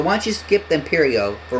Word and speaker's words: Imperio: Pronounced as Imperio.